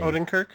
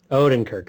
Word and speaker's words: Odenkirk: Owen how do you say that last name Odenkirk Odin Kirk there we go uh I loved him even